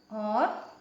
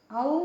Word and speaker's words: औ: तो देखिए, ओ, इसको बोलते समय थोड़ा सा मुंह खुलता है, ओ, और ये औ, ठीक है। तो इसमें ज़्यादा मुंह खुलता है और इसका उच्चारण औ निकलता है, ठीक है।